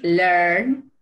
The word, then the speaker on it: learn: Sí es como una E, pero no es tan marcada como en el caso de read, ¿no? No, perdón, en el caso de read. Aquí es como learn, learn.